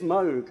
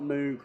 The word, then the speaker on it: Moog: Uh it is Moog apparently, not Moog, but um I uh yeah, let me know if I say it wrong in the next 20 minutes.